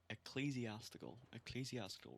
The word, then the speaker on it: ecclesiastical: Holy shit, I've been pronouncing it so wrong. Ecclesiastical ruins.